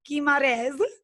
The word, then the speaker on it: Guimarães: as we know it so please welcome Jordana keymod is which I'm pronouncing right yes perfect amazing so Jordana has